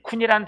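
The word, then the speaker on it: כון: 이 견고하게라는 히브리어 원문의 뜻은요, 쿤이라고 읽는데, 이 쿤이란 단어는요, 세워지다, 견고하게 서다, 확고하게 서다 이런 뜻이에요.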